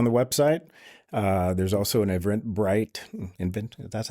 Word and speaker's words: Eventbrite: There's also an Eventbrite. That's how you say it? Eventbrite?